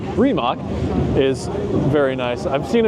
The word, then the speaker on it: Rimac: And this Rimac, I say it like Richard Hammond sometimes, Rimac is very nice.